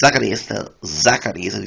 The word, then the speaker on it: Zacarias: Z in Spanish is spelled as sounds like my name is Zacarias. It's Zacarias, the Zacarias, as we say in English.